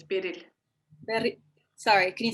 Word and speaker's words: Beril: Yeah, it's the Turkish version of Beryl, but it's just pronounced a bit differently. It's Beril.